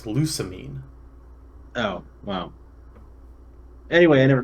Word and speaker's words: Lusamine: this next matchup well i thought we pronounced it los a mine no it's lusamine oh wow anyway i